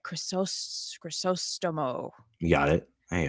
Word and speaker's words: Crisostomo: Crisostomo.